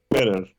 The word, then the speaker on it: better: Drop the first or the second T? The first. Yeah. Now you have a T between two vowel sounds. What do? You pronounce the T like? R.